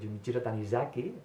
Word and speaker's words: Junichiro Tanizaki: Me ha recordado un relato de Tanizaki, de Junichiro Tanizaki, como se pronunciaría en japonés, que se llama El tatuador,